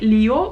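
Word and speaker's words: Lev: one the famous one english is like leo but actually in russian it's left leftover yes tolstoy kev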